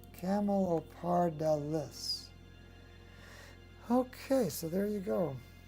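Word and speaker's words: Camelopardalis: chamolo parda lis camo it's dallas not dillis camel or par dallas okay so there you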